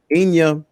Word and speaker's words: Enya: relaxing it's calming so her name is spelled e-n-y-a all right i'll put it up here in a minute so inya she has the song you